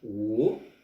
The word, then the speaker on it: 我: Alors, oh, W-O, troisième ton. Oh, voilà la prononciation.